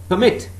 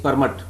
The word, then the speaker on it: permit: In permit, remember the first syllable is stressed. Permit. But when I say permit, that means I'm stressing the second syllable.